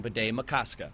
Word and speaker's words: Bde Maka Ska: neighbors will be working on adjusting to saying Bede-Makaskat. I'll definitely try calling it the new name if I can pronounce it correctly, but if that's what it's called, I'll go by it.